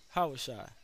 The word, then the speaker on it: Yahawashi: yeah i was shy yeah i was shy yeah how was shy that's how you pronounce it y'all was shy all right